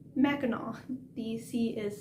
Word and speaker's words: Mackinac: that's not in michigan yes that is the correct pronunciation mackinac the sea is silent